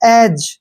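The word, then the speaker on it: edge: ना ब्रिज अब जैसे ई डी जी ई अब जी से पहले फिर डी आया डी को छोड़ देना है इसको पढ़ेंगे हम एज एज मींस किनारा होता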